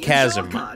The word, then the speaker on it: chasm: to the Village Plaza is blocked by a Chasm okay so it is pronounced Chasm every time I see the word I'm like